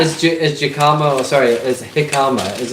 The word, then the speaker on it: jicama: Becky says jicama is usually sold at Asian grocery stores. Jicama. Well, it's spelled with a J.